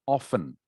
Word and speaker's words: often: often pronouncing the t usually english speakers will make the t silent okay so that the word is pronounced often with no t sound